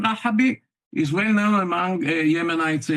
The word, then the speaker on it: Rahabi: Rahabi, probably a descendant from Yemen, where there is a district or a county named Rahaba. By the way, many people, there are many, the name Rahabi is well known among Yemenites until this very